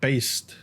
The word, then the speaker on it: Beist: They're called Beist or Beast but they spell it like b e i s t.